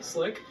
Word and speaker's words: Slyck: this year he went from spelling his name as s l y k slick to sly ck i